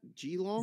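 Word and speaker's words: Geelong: it's gee long how do you say that g long cats ilon okay they're the favorite and then everyone else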